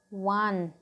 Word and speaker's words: one: Here also one, were, W sound is coming. Yes, one rupee note, one-eyed man. So we have used article A. What we have used? Article A. O is also a vowel, but we have used article A. Why? Because W, one, W sound is coming, and W is a what? W is a, what is W? W is a consonant.